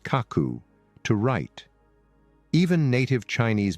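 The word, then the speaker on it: 書く: While in Japan, it is typically used for the verb pronounced kaku to write.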